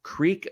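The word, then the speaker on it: Kriek: bottle of a Beer by the name of Creek 100 Lambic bio and Creek in this case is spelled k-r-i-e-k it's basically to denote that this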